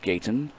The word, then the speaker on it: Gaytan: spelled OSB al do Gaytan said as it sounds is the pronunciation guy provided by Steve Diffie so they had to